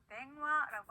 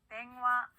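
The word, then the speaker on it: 電話: 네, 이응과 이응의 그 중간 발음으로 꼭 해주시면 되고요. 자, 전화라는 일본어는요, 땡화라고 합니다. 따라할게요. 땡화.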